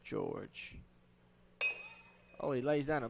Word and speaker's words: Jorge: number 23 now Isaiah George spelled Jorge pronounced George oh he lays down